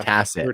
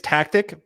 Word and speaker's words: Tacit: I always wondered if it was a hard C or a soft C, but now we know. Ditto. There is some kind of inside joke with that because most people think it's tactic, but it is Tacit Assassin.